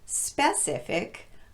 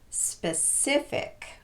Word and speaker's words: specific: economic but economic and this word is not specific but specific the nice thing is it